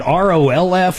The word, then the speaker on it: Rolf: Was it ROLF or A? Rolf. Yeah. R-O-L-F. ROLF. Like rolling on the floor laughing, but Oh, is it LF roll? instead of FL.